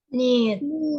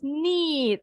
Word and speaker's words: knead: So this word is pronounced as Need. yes, knead.